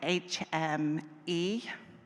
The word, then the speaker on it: HMIE: We pronounce it HME.